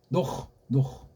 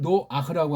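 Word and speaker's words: נח: 여기 노흐. 이거 발음을 노아흐라고 한 건 이 헤이트 발음을 못하는 엉터리 알파벳 자음 모음이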